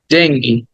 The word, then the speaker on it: Dengue: আমরা এটাকে অনেক ভুল বলি এটা বাংলায় শব্দটা ডেঙ্গু কিন্তু ইংরেজিতে বললে বলতে হবে ডেঙ্গি ডেঙ্গি ডেঙ্গি হ্যাঁ ডেঙ্গু বাংলায় বলা যাবে কিন্তু ইংরেজিতে